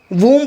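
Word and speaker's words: womb: word हम देखते हैं डब्लू ओ एम ब यह जो वूम पढ़ा जाता है इसे जिसमें बच्चा रहता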